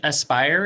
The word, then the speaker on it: Aspire: Spire? It's actually Aspire. It's okay. It's Oh, A-S. Aspire.